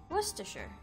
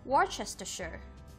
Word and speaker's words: Worcestershire: ideas we'll be pronouncing the word pasta sure Worcestershire often mispronounced as Worchester sure Worcestershire is a country in West Midlands of